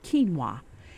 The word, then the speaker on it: quinoa: got all the minerals it's got protein fiber kinoa it's pronounced Keen as in K NW w a